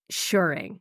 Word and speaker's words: shirring: dictionary and they agree so apparently I'm saying it wrong and it should be shuring with the long you sound but what in this